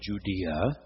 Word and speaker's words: Judea: Judah in the Hebrew Scriptures, now Judea, pronounced more in the Roman way.